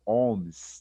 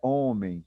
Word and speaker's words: ohms: Esse OHM, nós vamos ler e pronunciar ele como ohms, tá bom? Ohms. Não é homem, tá bom? É ohms mesmo, tá bom?